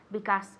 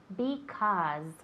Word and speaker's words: because: Y siempre recordad que con la palabra because es una S mosca, because, okay? No es because, it's because, okay?